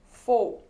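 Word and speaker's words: faux: with their for intuition it is written as f aux but it is pronounced as four and what is the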